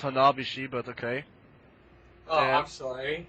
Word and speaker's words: Hanabishi: By the way, it's pronounced Hanabishi, but okay.